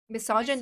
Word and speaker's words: misogyny: Okay, you guys have a general concept of Miss John Miss wait what's the pronunciation? Miss Johnny misogyny misogyny misogyny misogyny right so someone raised this